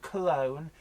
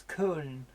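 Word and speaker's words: Köln: locals would pronounce them so it's not cologne its Kuhn Alex Pomeroy Oswald whistle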